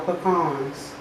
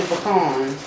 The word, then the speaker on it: pecan: some more of our pecans. How y'all pronounce it? I'm from New Orleans and we say pecans. Some people say pecans.